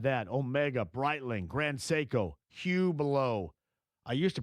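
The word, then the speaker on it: Hublot: Omega, Brightling, Grand Seiko, Hublo. I used to pronounce that name wrong, but I'm accurate now.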